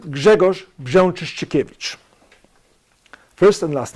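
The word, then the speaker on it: Grzegorz Brzęczyszczykiewicz: 49 on the homework it's pronounced Jagger's Jean cheesy cabbage first and last name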